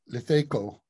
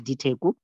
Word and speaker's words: Diteko: Okay, the first one is pronounced D. It's written with an L, but it's Diteko. And Diteko.